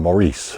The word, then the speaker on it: Maurice: Robin Gibb was very well known as one of the Bee Gees, along with his brothers Barry and Maurice, or Morris, whichever way you want to pronounce it.